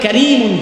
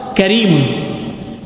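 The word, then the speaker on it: كريم: এখানে ৭৭ নম্বর আয়াতে আল্লাহ রাব্বুল আলামিন কোরআনের সাথে একটা আলাদা শব্দ ব্যবহার করেছেন, যেই শব্দটাকে আরবিতে উচ্চারণ করলে কারীমুন হয়। কি হয় বলুন? কারীমুন।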